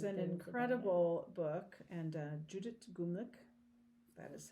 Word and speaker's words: Gumlich: is an incredible book, and Judith Gumlich, that is how you pronounce it, is a lovely German fiber artist and beekeeper.